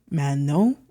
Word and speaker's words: Manon: And one of, if not the most popular member of the group, whose name is Manon, which is actually pronounced Manon, I think, but I'm probably just going to say Manon.